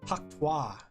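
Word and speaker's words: Hawk Tuah: Hakwa. Hakwa. I learned from Doki Bird that's how you pronounce it.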